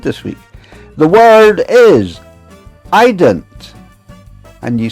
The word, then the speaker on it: eident: And you spell it e i d e n t. And you pronounce it e y e d n t, eident. It is Scottish, although there's a bit Irish in there, too.